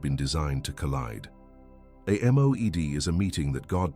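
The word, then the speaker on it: מועד: The name is Moed, pronounced Moed.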